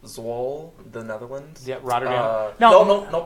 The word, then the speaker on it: Zwolle: So hey, there's a lot of and then a couple weeks, and I think it's pronounced Zwolle, the Netherlands.